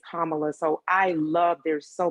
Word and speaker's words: Kamala: be on people about it's not camala it's not all of these different type of ways that people wanted to pronounce madam vice president's first name it is kamala so i love there's